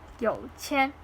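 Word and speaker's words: 有钱: a lot of money, but the real actual pronunciation is 有钱, one sound, flat sound.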